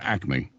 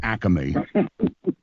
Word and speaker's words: Acme: things like Acme but it's the stores are Acme not Acme that's called a regionalism yeah but as a regionalism pronunciation usually originalism is a choice of a